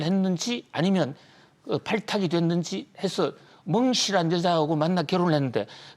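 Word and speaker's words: 孟: 멍씨가 멍청하다 멍자가 아니고요. 중국어로 맹자 있지 않습니까? 맹자가 중국 발음하면 멍 발음이 나요.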